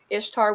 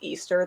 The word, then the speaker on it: Ishtar: horse with it like ishtar was not pronounced easter there's zero evidence to say that that was ever a pronunciation for that i've seen that one